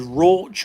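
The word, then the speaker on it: Rauch: So, it uses a malt called roch malt. R A U C H. Ro, I think that's how it's pronounced.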